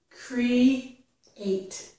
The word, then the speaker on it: create: This word has two syllables, create. So cre ends in the E vowel sound, which again has a little bit of a Y, okay? It ends in E. The next syllable begins with a vowel sound, A, eight, create. When I join these closely together, we can often hear the y. Create, yate, create. Now we don't exaggerate that sound, no.